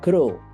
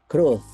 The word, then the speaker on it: growth: mindsetnya bertumbuh atau terus mindset jadi Groot ya bukan grow jadi tulisannya yang betul adalah gro wth jadi bacanya grows berarti tumbuh dalam arti kata benda